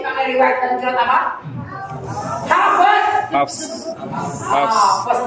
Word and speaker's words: Hafs: Nama imam yang kita ikuti cara baca Qurannya bukan hafaz tapi sama-sama hafs. Siapa? Hafs. Nah, dari gurunya Imam bukan hafs. Kita mengaji dengan hafs bukan hafaz.